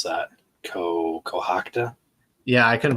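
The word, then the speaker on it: Cohoctah: It's Cohocta.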